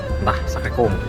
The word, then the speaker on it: Sacré-Cœur: Gimana cara bacanya? Sacré-Cœur.